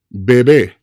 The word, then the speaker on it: bebé: that separates them is an accent mark or a tilde over the final E, indicating that that's where the stress point should lie when it comes to pronunciation. Bebe, bebé.